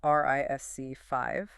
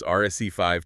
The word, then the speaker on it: RISC-V: lot about an architecture that is spelled RISC-V, but in the industry, it is strictly pronounced RISC5, right? Yes. So, every time you hear us reference RSC 5 today, just picture that V as a Roman numeral.